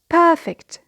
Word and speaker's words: perfect: The first word in group 4, which is an adjective, it's perfect. Perfect. So here, the stress is on the first syllable.